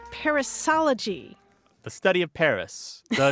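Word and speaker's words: perissology: no actually this is a terrific example of parisology it's spelled p e r i s s o l o g y study of Proverbs and sayings no no no parisology is a superfluity of words an overabundance of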